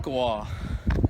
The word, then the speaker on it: Tonkawa: How do you pronounce the town? Tonkawa.